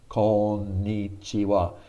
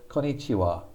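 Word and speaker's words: こんにちは: mainly by books because he always said konichiwa konichiwa that sounds really bad konichiwa you need to pause over both of those ends konnichiwa konnichiwa konnichiwa now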